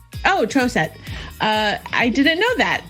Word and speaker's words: Troseth: with the long o troce that's correct and the h is silent oh trosette uh i didn't know